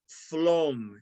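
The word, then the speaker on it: Flåm: near the town of it's spelled looking like flam but it's pronounced phloem and it was in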